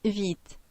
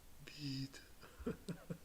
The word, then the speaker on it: Vite: Vite is the French word for quick, apparently. Maybe I should be saying it right. Vite. Vite.